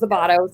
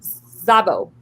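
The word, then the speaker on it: Szablya: by Rose Zabato. So that, or Zabo, not Zabato. Zabo, yeah. Say I Zabato. looked up how to say it. You just don't say the S.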